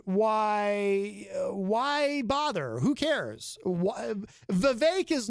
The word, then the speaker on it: Vivek: Vivek ramaswamy and by the way it is Vivek I know that because I saw him interviewed